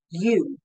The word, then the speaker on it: you: For example, you is a sight word because you could not phonetically say ya, ah, uh. That's considered a sight word. Y-O-U, you. You just know it.